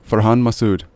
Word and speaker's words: Farhan Masood: way to say it yep behind my suit for Han Masood excellent yeah and just to give you a